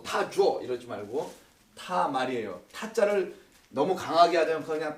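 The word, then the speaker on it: תמר: 말타라고 읽지 마시고 제가 이쪽으로 지금 쓰고 있습니다. 히브리서는 말타 아까 뭐 타줘 이러지 말고 타말이에요.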